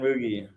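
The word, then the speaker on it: Mougey: No, it's the new GM, and I don't know how to pronounce his name, so I already don't like him. Yeah, Darren Moogie. Moogie, okay.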